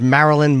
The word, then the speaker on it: Maryland: It's Maryland. Maryland.